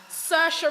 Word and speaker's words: Saoirse: Saoirse Ronan, oh gosh, she is wonderful.